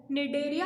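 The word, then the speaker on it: Cnidaria: निडेरिया में पहले सी आता है लेकिन सी इनमें साइलेंट होता है, इसलिए इसको निडेरिया बोलते हैं।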